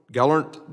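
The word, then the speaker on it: Gelernt: thank you for being here Mr Lee Gant Gant did I pronounce that correctly L sir thank yes thank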